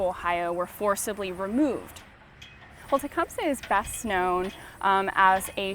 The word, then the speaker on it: Tecumseh: But if you were to listen to someone from the Shawnee tribe say his name, it would have been pronounced Tecumseh.